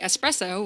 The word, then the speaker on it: espresso: as the caption because he does not say espresso, which is the correct pronunciation.